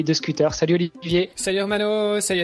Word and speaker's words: Hermann: Salut Herman. Salut Hermano. Salut Olivier. Merci beaucoup de m'avoir sur ce podcast. Est-ce qu'on prononce bien ton prénom ?